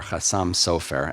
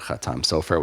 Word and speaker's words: Chatam Sofer: as the Chatam or Chassam Sofer, after the title of his work, Chidushe Torah of Moses Sofer, which is how you get Chatam Sofer, which in Ashkenazi pronunciation would be Chassam Sofer.